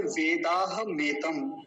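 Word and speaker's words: वेदाहमेतम्: मैं पहले एक बार इस मंत्र के उच्चारण के विषय में आपको बता देता हूँ, ध्यान से समझेंगे। पहला शब्द है वेदाह मेतम, वेदाह मेतम, पुरुषम, पुरुषम, मूर्धन्य शकार, पुरुषम।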